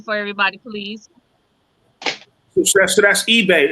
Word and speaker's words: Ibeh: So that's eBay. It's spelled eBay, but it's eBay. So IBEH. It's eBay, like the. Like eBay.